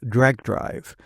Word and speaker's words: Drag x Drive: Some people would say that it should be pronounced Drag Drive, with the X being silent, like it is in some anime, or the recently announced